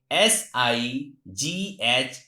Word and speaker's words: sight: If at the last of any word GH or GHT is found, in that condition GH is silent.